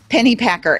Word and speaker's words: Pennypacker: from my guest today her name is megan pennypacker and megan i just realized i didn't ask